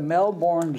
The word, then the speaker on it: Melbourne: black swans at the Melbourne zoo I suppose they pronounce it melbour uh the pair were